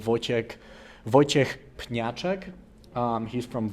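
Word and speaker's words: Wojciech: Um, I will say this again, Voyek Patchek, for everyone that is struggling out there to pronunciate his his name.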